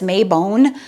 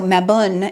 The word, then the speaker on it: Mabon: think of it as mayone um but I was looking it up in MA like cat and Bun like bun and so maun is is uh apparently